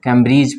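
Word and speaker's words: Cambridge: इसको कैम्ब्रिज पढ़ेंगे, इसमें भी डी साइलेंट हो जाएगा।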